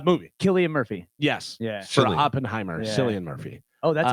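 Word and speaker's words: Cillian: or movie uh movie Killian Murphy yes Oppenheimer San Murphy oh that's how you pronounce it yes I believe so yeah uh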